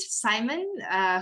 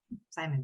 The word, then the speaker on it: Simon: So now I would like to invite Simon, who is the Urban Mobility Pillar Lead from SSATP. Simon, please. Hello, everyone. So I'm Simon, or Simon, if you can pronounce it in French.